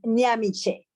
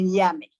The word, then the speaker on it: Nyamiche: So just for everybody, pronunciation, my full name is Nyamiche. Nyamiche is a Ghanaian name, and because of the pronunciation, you can break it down in two. And so for easier reference, I always tell people just to say Nyami.